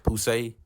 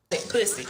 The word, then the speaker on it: Poussey: However, Poussey... Pussy. My name is Poussey. Accent a droite, bitch.